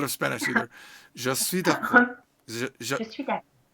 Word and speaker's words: d'accord: But are you saying you're not saying the D sound at the end? No, I don't say the D.